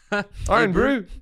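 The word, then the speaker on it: Irn-Bru: in new zealand and it's pronounced iron bro but there iron brew hey brew oh brew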